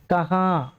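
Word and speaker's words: कहाँ: அப்படின்னா ஞாயிற்றுக்கிழமை ஆஜ் எத்வாரே கஹா கஹான்னா எங்கே இந்த கஹாங்குற உச்சரிப்பை பாருங்க முடியும் போது இங்குற இங்கு முடியும் கஹா அந்த இங்குறது வந்து சைலெண்ட்டா இருக்கும் ஏன்னா கஹா சொன்னாரு சொன்னாங்க அப்படிங்கிறதையும்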